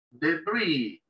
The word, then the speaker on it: debris: Debris, palabra en inglés que viene del francés, debris, no se pronuncia la S.